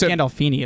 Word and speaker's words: Gandolfini: So James Gandolfini is actually how you pronounce it.